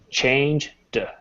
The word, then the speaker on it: changed: And this is pronounced because it's here, it's a D sound, so it's D. Change, D. Changed. Perfect. So all you say is just the D sound.